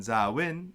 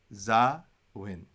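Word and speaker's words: ܙܒܢ: But on zawin, it's going to be a long a skapa. So you see here, the skapa, zawin, because then that stands on its own long alep, long a.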